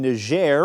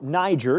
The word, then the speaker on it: Niger: its final base in ner or Niger depending how you say it to the nation's